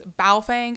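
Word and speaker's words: Baofeng: It's Bow Fang, not Bong.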